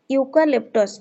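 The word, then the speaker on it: eucalyptus: 68 we have dash ইউকালেপ্টস okay tree in our garden 68 number question এটা দেখুন তো ইউ উচ্চারণ হচ্ছে না ইউন করি আর্টিকেল এ ইউজ হবো অপশন নাম্বার সি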